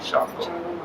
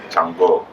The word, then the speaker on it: Shango: Yeah, everybody wants to be Shango. Shango Macho, right, exactly. Chango. And they say Chango Macho in Latin countries because in Latin countries they never pronounce sh, it's ch.